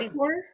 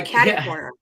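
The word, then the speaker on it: catty-corner: How do you say kitty corner? I'm sorry, what? Kitty corner? I say catty corner.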